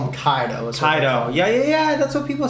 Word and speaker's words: Kaido: let's name this dog kaido and then they probably incorrectly called him kato probably yeah yeah have been incorrectly we've everyone's been incorrectly pronouncing the name here yeah but no but